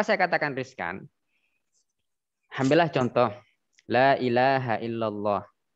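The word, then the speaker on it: لا إله إلا الله: katakan Riskan Ambillah contoh Lailahaillallah yang betul seperti yang saya bacakan barusan lailahailallah la panjang ilaha illa nya yang panjang selainnya pendek illallah Ila itu berhubung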